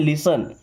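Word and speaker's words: listen: इस वर्ड में T silent है। क्या पढ़ते हैं? लिसन।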